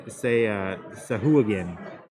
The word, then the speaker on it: Sahuagin: Like I say Sawagan, but a lot of people say Sahuagin. And to me, like that's silly. Like of course it's Sawagan. Sawagan.